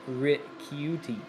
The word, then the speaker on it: Ricciuti: He said the Italian pronunciation would be ricciuti.